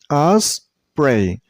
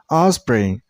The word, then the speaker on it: osprey: So this name has two syllables, osprey. Remember, listen carefully while you pronounce the first syllable. I'm not pronouncing O. Your mouth shouldn't make a round shape. It's a little bit sound. Osprey, osprey, osprey.